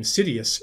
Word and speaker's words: Sidious: by darth meaning dark my own name sidious rhymes with hideous it was given me